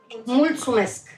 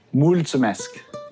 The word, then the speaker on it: Mulțumesc: Mulțumesc. Mulțumesc.